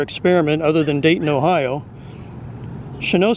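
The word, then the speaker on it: Chanute: n u t and he's French so I'm going to pronounce it shano but if you want to be lazy like I usually am you Chen Ute anyway visited San Diego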